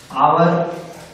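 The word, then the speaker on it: hour: इसी प्रकार और भी वर्ड हो जाते हैं, ऑनेस्ट, आवर। एक साइलेंट है, इसमें भी बोलने पे ओ आ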